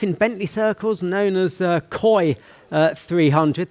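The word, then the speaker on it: Koy: Famous life in Bentley circles, known as Coy 300. That's Coy spelt with a K.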